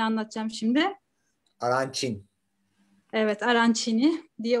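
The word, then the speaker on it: arancini: ben aracın yemeğini anlatacağım şimdi araç için evet arançini diye okunuyormuş yeni öğrendim resimde dikey şekilde konumlanmış bir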